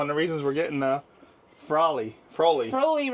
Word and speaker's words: Froli: She has back issues, which is one of the reasons we're getting Froli. Froli rhymes with We're getting a holy.